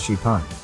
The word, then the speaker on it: XPeng: car that can fly the company calls it Spang pronounced chipan the vehicle can fly